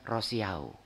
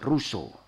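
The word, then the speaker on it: Rousseau: Insyaallah tahu tetapi tap Biasanya kita bacanya rosiao Ya jin jakues rosiao Nah itu orang Prancis bacanya John shak ruso ruso ini terkenal kalau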